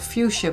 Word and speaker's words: fuchsia: matte it's p55 and it's called fuchsia but it's spelled f u xia a I will list